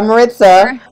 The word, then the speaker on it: Maritza: Yeah, Maritza. That's how you say it. Maritza, like pizza.